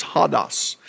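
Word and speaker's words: ὁδός: Now, I'm going to pronounce it hodos because I'm from Cherokee County and I can. But the correct pronunciation is hodos.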